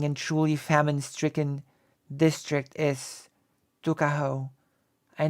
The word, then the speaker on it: Tuckahoe: Eastern Shore men usually pronounce the word took as tuck. Tuckahoe, therefore, is in Maryland parlance. Tuckahoe, but whatever may have been